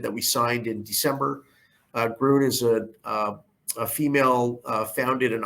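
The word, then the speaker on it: Grön: on this slide is groon that i know it looks like it says grown but it's actually pronounced garun that is the licensing agreement that we signed in december grunt is a female founded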